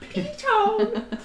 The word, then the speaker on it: piton: I think Python. Piton. Piton. It is not Python.